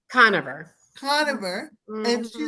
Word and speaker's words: Conover: how do you say your last name coner coner and she said we're gonna talk about